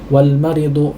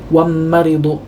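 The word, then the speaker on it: والمريض: Jangan sampai kita mengucapkan wam maridu, bisa kita ucapkan wam maridu, nah, ini salah tentunya, ya.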